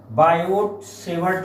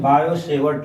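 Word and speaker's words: Biot–Savart: Part बायो सेवर्ट लॉ, बायो सेवर्ट लॉ में T silent है तो इसको हम पढ़ते हैं बायो सेवर्ट लॉ।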